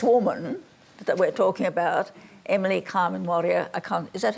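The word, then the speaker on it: Emily Kame Kngwarreye: Well, anyway, it's just this woman that we're talking about, Emily Carmen Warrior, is that how you say her name? Yes. Emily Carmen Warrior is probably the greatest artist and most original artist that Australia has ever produced.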